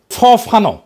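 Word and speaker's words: Fanon: ফরাসি আলজেরিয়ান চিন্তাবিদ ফানো ফানো নাম আসল উচ্চারণটা উনি বলছিলেন পরাধীন জাতিগোষ্ঠী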